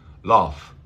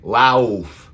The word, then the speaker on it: laugh: Laugh, ah, ah, so laugh, sí, parece lauf, lauf, pero no es así. Vamos a pronunciar la A corta, ah, ah, laugh, laugh, okay? Sí, thank you for mentioning that, gracias por decirlo. Aquí GH suena como una F.